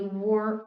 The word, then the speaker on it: were: Então imagina que tem um U mesmo antes da gente falar was, e depois were.